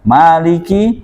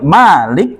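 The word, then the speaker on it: مالك: Ya, Maliki Yaumiddin, Allah adalah pemilik, ya, hari pembalasan. Maka sobat Fadil rahimakumullah, perhatikan pada lafaz Malik di sini ada qiraah lain yang membacanya bukan Malik panjang tapi dibaca Malik.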